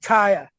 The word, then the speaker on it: Ka'a: That's pronounced Kaya. I know it's not clear, but I don't think it's Ka'a.